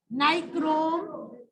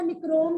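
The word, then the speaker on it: nichrome: ये वर्ड बोला मैंने, नाइक्रोम वायर। इसको निक्रोम भी बोलते हैं कुछ बच्चे, प्रोनाउंसिएशन वैसे नाइक्रोम बोलेंगे, नाइक्रोम वायर।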